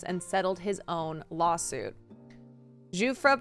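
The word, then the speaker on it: Giuffre: Zufra, pronounced like Jeffrey.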